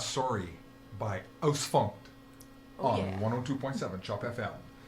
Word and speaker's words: Ausfunkt: All right, this is Ausfunk. Am I pronouncing yeah, that right? Ausfunkt.